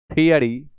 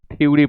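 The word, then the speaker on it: theory: थियरी सिद्धांत, बहुत लोग इसे थ्योरी पढ़ते हैं, गलत प्रोनाउंसिएशन है, आप पढ़ें थियरी, थियरी, थियरी, नॉट थ्योरी।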